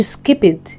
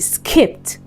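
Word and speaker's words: skipped: مش هتبقى جمبت هتبقى جمبت جمبت دي مش سكيبد دي سكيبت سكيبت سكيبت سكيبت ستبت ستبت ستبت ستبت ستبت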